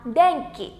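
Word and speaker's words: でんき: Từ này chúng ta đọc là đèn kỳ.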